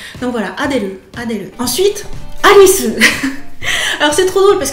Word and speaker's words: Alice: Pour Alice c'est un peu comme pour Adèle, ça se termine muet en fait, il n'y a pas de voyelle. Alice. Le E ne se prononce pas.